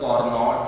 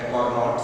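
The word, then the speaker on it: Carnot: है that is द कार्नोट cycle. कार्नोट cycle, इसमें अगर देखें तो CAR जो है वो एक तरीके से साइलेंट है। नॉट साइकिल भी कई बार हम लोग इसको पढ़ते हैं।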